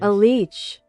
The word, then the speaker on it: Aliech: A leech. A leech, just says it as a leech.